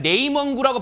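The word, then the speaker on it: 内蒙古: 지금 12년 3년 전에 네몽고 그러니까 네이먼구라고 발음하는 거 있잖아요.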